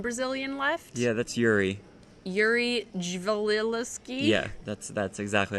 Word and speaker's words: Yuri Dzivelevski: Yuri Dzivelevski.